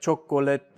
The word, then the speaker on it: chocolate: it out and so even though you still spell all of those syllables native speakers now say chocolate chocolate or like comfortable comfortable that's how it's spelled but native English speakers we say comfortable and this is like